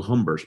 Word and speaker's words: Humbert: But their leader, Jan Joseph Amabel Humbert, who we call Humbert because the Irish refuse to pronounce French words correctly.